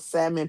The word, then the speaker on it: salmon: I've heard them called salmon patties. And please tell your Okay. cousins here on this internet that you don't say the L.